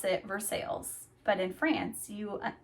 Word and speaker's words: Versailles: And in Indiana, you pronounce it Versailles, but in France you pronounce it Versailles.